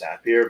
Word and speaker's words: Zapier: Like, I pronounce it Zapier. Some people call it Zapier. So I think I want to say it was because I think they call them Zaps. Right. So it's Zapier, but I don't Zapier?